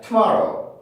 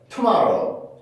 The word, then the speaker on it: tomorrow: 근데 저 tomorrow라고 하는 단어를 보면은 많은 학생들이 강세를 정확히 못하는 경우들이 있어요. 어떻게 하냐면 tomorrow, tomorrow, tomorrow 이렇게 발음을 해요. 근데 이 단어의 강세는요 여기에 있습니다. to에 있는 게 아니라 여기에 있어요.